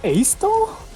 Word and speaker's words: Astal: It's pronounced Astal?